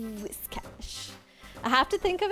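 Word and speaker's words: Whiscash: It took me like five seconds of brain power to be like wish cash. I have to think of it always as it rhymes with this because even though it's supposed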